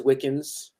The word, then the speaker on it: Wickens: My last name is Wickens, not spelled like Wiccan, but it's close enough.